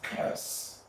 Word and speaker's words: coerce: Then what about the second word? This one is pronounced as curse.